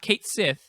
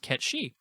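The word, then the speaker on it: Cait Sith: Ketshi, which I learned. It's not Kate Sith. It's actually some sort of Welsh or like Celtic name, and it's pronounced Ketshi.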